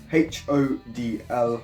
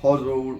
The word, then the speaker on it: hodl: lowest simple as that h o d l huddle or hodl however you want to pronounce it now this originates from